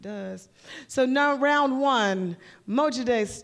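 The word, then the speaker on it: Mojde: my names before my name before it is Mo day now you know I can spell that for you m o j d e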